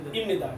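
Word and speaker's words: 입니다: বুঝাতে noun plus ইমনিদা এটা ইমনিদা কেন হলো আমি বলছিলাম যে বিউ বাচ্চা এর পরে যদি নিয়ন থাকে তাহলে ভয়ের উচ্চারণ সর্বদা কিসের মত হবে ম এর মত হবে তাহলে ইমনিদা তাহলে নাউন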